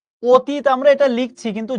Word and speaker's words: অতীত: অতীত আমরা এটা লিখছি, কিন্তু যখন আমি উচ্চারণ করি অ সবসময় উচ্চারণ করি ও এর মতো, ঠিক কিনা?